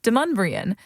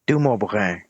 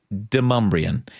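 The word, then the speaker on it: Demonbreun: It's Deumbrian. But if you were standing on Deumbrian Street 300 years ago, you might hear that name pronounced Dum.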